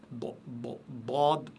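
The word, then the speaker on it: ḍād: Dad, Dad. Donc, vous devez, la bouche est pleine, la langue est prononcez ça de manière très très lourde et la langue elle s'étale sur à l'intérieur de la bouche. Dad, Dad, Dad. Donc, c'est un son plein et c'est un son très lourd.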